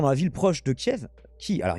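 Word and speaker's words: Kyiv: la ville proche de kiev qui alors il faut commencer kif si on veut prononcer façon ukrainienne le 1er avril mais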